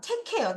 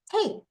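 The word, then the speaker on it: take: 이러면 매직이 만들어지면서 여기에 있는 A가 에가 아니라 A 발음으로 갑니다. 자, 발음을 볼게요. 체크 체크 체크 어 잡다 가다 하다 뭐라고요? 테이 잡다 가다 하다 다시 뭐라고요?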